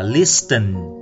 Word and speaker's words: listen: Cái từ listen này là sờ nhẹ. Các bạn chú ý là từ này không phải đọc là listen như một số bạn đọc, mà nó chỉ có cái âm sờ thôi, là listen. Ta không đọc cái âm tờ đâu.